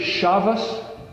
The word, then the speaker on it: Shabbat: You ever hear anybody say Shabbos, meaning Shabbat? Why? It's because the Tav can be pronounced as an S, a TH, or a T, depending on the dialectic sort of area that you're from.